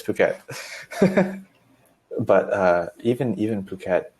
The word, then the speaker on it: Phuket: in Thailand who has they don't pronounce the pH okay the same way we did yeah people say fruit cat I think I was pronouncing it Phuket and then somebody was